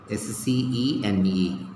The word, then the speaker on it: scene: So what are the words that has C but we don't pronounce? Muscle. What is this? M-U-S-C-L-E. Muscle. S-C-E-N-E.